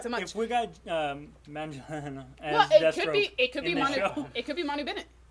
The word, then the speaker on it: Manganiello: And Joe Manganiello is Manganiello. I looked And up how it's to Giacchino, I think.